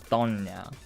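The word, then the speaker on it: doña: So instead of a voiced plosive, it's a they changed the way you pronounce that slightly. Don, donya, Donya.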